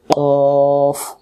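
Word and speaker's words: قاف: এর সাথে রফ মানে সাকিনের উচ্চারণ এমন করে উচ্চারণ হবে অক্ষর শিখাই আজকে আজকে ছয় অক্ষর থাক আর কফ দেখতে একই রকম ভাই বোনের মত এর হল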